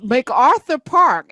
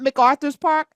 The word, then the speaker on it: MacArthur Park: So, it's MacArthur Park. It's not MacArthur's Park. So, who It's It don't belong to MacArthur. I've been saying it wrong the whole time.